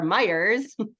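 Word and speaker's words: Meijer: kids to the store Meyers and it's spelled Mei which is pronounced my and then s which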